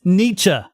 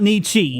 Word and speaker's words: Nietzsche: this is a peeve of mine please it's Nietzsche not Nietzsche Niche sorry that's how you pronounce it Nietzsche sounds like baby talk oh